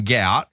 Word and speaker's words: Gout: So his dad came out and said, at home we call him Guap. And it's obviously in his native language is the way that he pronounces his name. But him himself, so Gout himself and his manager came out very quickly and said, look, we want it to be spelt G-O-U-T.